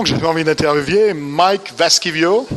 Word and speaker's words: Vaskivuo: En compagnie alors d'un joueur vraiment que j'avais envie d'interviewer, Mike Vaskivuo. It's pronounced okay.